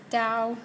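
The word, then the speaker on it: 刀: it's asking me for the definition and the pronunciation instead of the other way around to get the Chinese so this is Dao for knife and I got it right so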